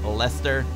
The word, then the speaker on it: Leicester: Congratulations to the museum in Leicester.